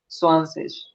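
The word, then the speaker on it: zwanzig: इसके बाद जैसे ही आप 10 में फिर एक और 10 ऐड करोगे, ये हो जाएगा 20, और 20 को कैसे प्रोनाउंस करना है स्वानसेश, स्वानसेश, स्वानसेश।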